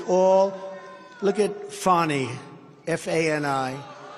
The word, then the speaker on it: Fani: It's all, look at Fani, F-A-N-I. It should be pronounced Fanny. Fanny. Fani. Fani. They say she gets very upset if you call her Fanny, F-A-N-I.